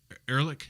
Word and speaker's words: Ehrlich: Ehrlich, is that how you pronounce it?